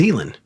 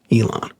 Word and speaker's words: Elen: Well, her name's spelled like Elon, but her name's Elen.